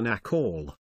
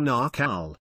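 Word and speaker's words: Naacal: cycle it was called the nakhole or narcal rhymes with mccall mystery school where they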